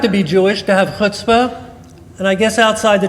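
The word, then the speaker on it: chutzpah: Jewish to have hutzpah of course only we Jews can pronounce it they say oh my he has such Hot Spot hotspot can you believe what he just he just that he's got hotspot and by the way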